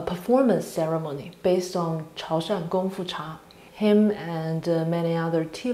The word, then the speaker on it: Gongfu Cha: It's Gongfu Cha, because in their native dialect, Gongfu and Kungfu, they pronounce totally different, and it's Gongfu Cha. However, in Mandarin and many other dialects, both words are pronounced identical as Gongfu.